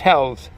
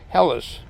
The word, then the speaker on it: Helles: Basically, when I was in Germany for a short while, half a year, compliments of the United States Army, and it was pronounced Hell's.